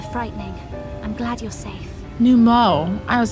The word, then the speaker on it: Nu Mou: Those Numo were rather frightening. I'm glad you're safe. Num Mo.